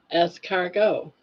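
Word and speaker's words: escargot: The T is silent on esargo. Essgo. Es cargo.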